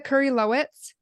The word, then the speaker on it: Kurylowicz: So we have Miss Elisa Kurylowicz. Pronounce her Nailed name right.